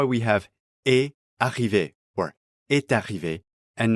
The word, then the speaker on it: est arrivé: We again get liaison here, so the final T of est is pronounced before arrivé. Est arrivé.